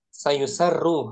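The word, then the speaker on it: سيُسَرّ: Wa mata'nitsu Tadi dibacanya keliru anak tadi. Sayusarru harusnya.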